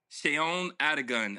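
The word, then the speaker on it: Seun Adigun: Sheon Adigan. It's spelled like Sean or no. I know her. S-E-U-N.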